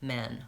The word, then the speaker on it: men: I would suggest trying practicing that man so that vow ah is in both words that man and ten men vowel F in both of those words so if I'm going from man to men by itself can be challenging that man ten men helps separate those vowels and helps me hear and distinguish them when I'm pronouncing those two words another example live and